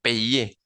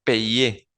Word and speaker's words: payer: El verbo payer. Se pronuncia payer. Recuerden que la Y en francés es una vocal. Bien, asocian siempre la Y con una vocal en francés, no es una consonante como en español.